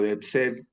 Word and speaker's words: DeepSeek: Entonces, para comenzar, quisiera, citando a la IA DeepSeek o DeepSeek, pronunciado en español, pero que es esta IA china que está mucho más completa que lo que ofrece el ChatGPT.